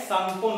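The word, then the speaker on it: Tsangpo: का नाम क्या है, सांगपो नदी। सांगपो या इंग्लिश में देखें तो तसांगपो, लेकिन यहाँ पे याद रखना यहाँ पे टी साइलेंट होता है तो इसको क्या बोला जाता है, सांगपो बोला जाता है।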